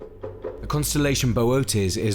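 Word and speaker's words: Boötes: Bootes, a slow-working star in North Pole near to Charles Wain.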